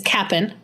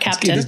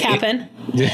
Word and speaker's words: Cap'n Crunch: It's Cap'n, not Captain. You're right. It is Captain. It's Cap'n.